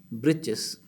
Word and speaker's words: breeches: Yes, that is breeches. Breeches means breeches are short trousers. The writer here spells it for fun to rhyme with the word witches, and witch means meaning.